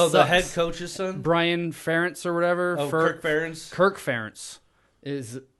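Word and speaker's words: Ferentz: doesn't even seem right is that right ference that's how you say it yeah it's like I think I just try to always say Kirk hurts versus Kirk parents Kirk ferens he uh I don't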